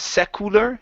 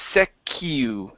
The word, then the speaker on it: secular: This word here, instead of secular, it's secular.